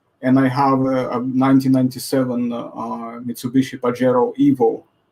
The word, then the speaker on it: Pajero: have a 1997 Mitsubishi Pajero Evo. It's a great car, but the funny thing is that in Spanish, the way you spell it in Latin, Pajero, it's actually spoken as, well, as pajero.